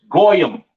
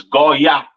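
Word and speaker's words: goyim: Hebrew goak go y the yish man says goam or go or whatever the hell he says that's not the proper pronunciation for the word Gentile in Hebrew it is Goya all right now once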